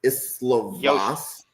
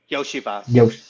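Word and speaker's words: Iosivas: Cincinnati has Burton, and I'm going to butcher the last name, but is it Islovas? Yoshivas.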